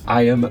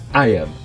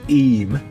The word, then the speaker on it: Eyam: between the edge of Iam Moor and the River Derwent. Iam, pronounced Eem, rather than I am, is over there to our left somewhere.